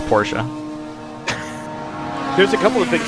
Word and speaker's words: Porsche: I'm two positions down I'm going to charge you $5 every time you decide to omit the last syllable of Porsche there's a couple of